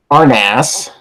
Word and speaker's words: RNAAS: RNAAS, pronounced RNAS.